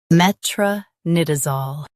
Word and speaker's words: metronidazole: Met. R. Nid. Zol. Metronidazole. Focus on NID and keep zol light.